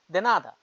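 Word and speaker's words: de nada: প্রতি উত্তরে বলবেন ইউ আর ওয়েলকাম আপনাকে স্বাগতম দেনাদা পর্তুগিজরা বলে থ্যাংক ইউর পরিবর্তে পাল্টা জবাব দেনাদা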